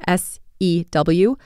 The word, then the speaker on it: sew: To sew is often mispronounced in English because of its spelling, S-E-W, to sew.